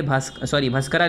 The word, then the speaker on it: भास्कर: भास्कर लिखा है ये, भास्करा लिखा है मगर भास्कर पढ़ते हैं, इसे ए साइलेंट है यहाँ पर लास्ट में, ठीक है, ये क्या लिखा है, भास्कर।